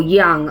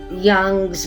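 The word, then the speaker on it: Jung: person called K jug and that's spelled or young I should say K young j u n g I think it's pronounced Young was the person to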